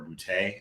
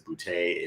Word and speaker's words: Boutte: am underscore bootay uh b-o-u-t-t-e yes my last name is bootay if it's not funny you're not saying it right that's probably the easiest